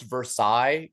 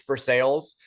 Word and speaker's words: Versailles: There's a what should be pronounced Versailles, Kentucky, but we call it's Versailles.